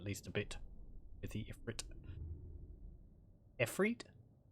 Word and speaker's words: Ifrit: I've seen both ways spelling it. I think in game it's spelled E-F-R-T, Ifrit, but I've also seen it spelled Ifrit, I-F-R-E-E-T. So, I think it's one of those things where it's sort of pronounced halfway between.